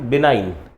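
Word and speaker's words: benign: इसका प्रोनाउंसिएशन है बिनाइन।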